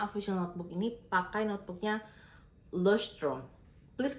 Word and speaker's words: Leuchtturm: Dan ini tuh sebetulnya official notebook ini pakai notebooknya Leuchtturm. Please correct me if I'm wrong ya kalau gue bacanya salah, karena gue juga mengikuti pronunciation dari beberapa video gitu. Ini Leuchtturm 1917.